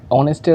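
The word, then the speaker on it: honest: যেরকম অনেস্টের আগে আমরা এ না বসিয়ে এন বসাই, কারণ অনেস্ট উচ্চারণটি ও ভাওয়েল ও এর মতন উচ্চারণ হয়, যদিও অনেস্ট শব্দটি এইচ কনসোনেন্ট শব্দ দিয়ে ব্যবহার হয়েছে।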